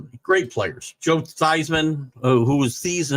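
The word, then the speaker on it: Theismann: me great players Joe seisman who was the his name was thasan until the Heisman uh marketing uh machine got to him and hadn't changed your pronunciation of his name Pat Sullivan at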